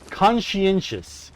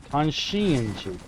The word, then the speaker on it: conscientious: Conscientious. Is that how that word is pronounced? Conscientious. Conscientious. Consensious. Okay.